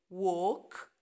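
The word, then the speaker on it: walk: كلمه وينت وينت بعدين وك وك طبعا الال سايلنت وك وات وات وايت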